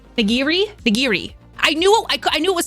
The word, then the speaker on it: nigiri: The fish on top of the rice is called nigiri.